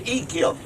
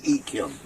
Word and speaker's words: Echium: Bush Echium. You spell it E-C-H-R-U-M.